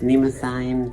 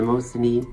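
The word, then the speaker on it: Mnemosyne: one goddess of memory pronounced many ways in the show sometimes pronounced nemo sign sometimes the most neat you can choose yourself um i like that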